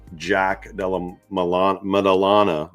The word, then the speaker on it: Jack Della Maddalena: I put $800 down to win 2,000 on Jack Della Maddalena is how you pronounce his name.